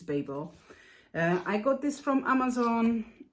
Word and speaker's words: Babel: lot of them so I got Babel or Baba I don't know how you pronounce it for me it's baba but I think it's Babel I got this from